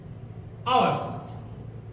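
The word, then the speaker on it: hour: कभी कभी साइलेंट होता है, जैसे आवर्स। अब यहां पे क्या प्रयोग करेंगे, ये तो यस से स्टार्ट है, पढ़ भी रहे हैं, लेकिन पढ़ क्या रहे हैं, आवर, आवर, पहला अक्षर क्या है, आ है यानी स्वर है, तो हम यहां क्या का प्रयोग करेंगे, एन का प्रयोग करेंगे।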